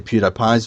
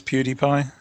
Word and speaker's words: PewDiePie: I think it's PewDiePie. PewDiePie. I'm going. I say by PewDiePie because it rhymes with Cutie Pie.